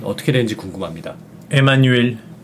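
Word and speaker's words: Emmanuel: 분들 따라 주셨으면 좋겠는데 입모양은 우 입모양은 우하고 쭉 뺀 다음에 소리는이라고 내셔야 돼요 그러니까 유 유요 소리입니다 에마누엘 티 이게 프랑스인들을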